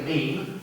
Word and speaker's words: meme: called a mimetic, a meme, yeah, Rhymes with Cream.